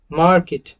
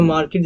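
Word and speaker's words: market: और ये ब्रिटिश में दोस्तों आर को नहीं प्रोनाउंस करेंगे। ये जो मार्केट जो मैंने अभी बोला वो अमेरिकन एक्सेंट का था। अगर इसको ब्रिटिश एक्सेंट में बोलना है तो मार्केट, मार्केट। आर को प्रोनाउंस नहीं करेंगे।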